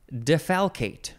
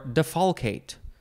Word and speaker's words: defalcate: in this episode is defalcate or defalcate to follow Kate d e f a